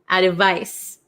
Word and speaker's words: advice: remember about pronunciation so number seven is ad advice advice advice it has a c and it's pronounced like SS sound advice and then number eight